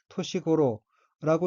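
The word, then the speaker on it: 年頃: 둘째 줄 첫 번째 어휘는 한자가 년경이고 각기 해년, 일환경, 짜이고 일본어로는 토시고로라고 읽으며 토시고로는 알맞은 나이, 정령, 대체로 본 나이의 정도라는 뜻의 명사입니다.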